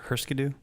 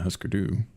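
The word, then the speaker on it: Hüsker Dü: Well, it's Huskerdu. And I think the U has an umlaut, so it could be that it's husker-du.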